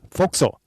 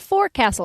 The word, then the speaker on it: forecastle: It's not forecastle, it's forecastle. But it's spelled forecastle, Forecastle. Yes, but I think they started calling it forecastle because they realized it's absolutely nothing like a castle.